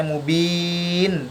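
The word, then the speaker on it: مبين: Sehingga cara bacanya mubin, bukan mubinu tapi mubin. Bacanya panjang 6 harokat.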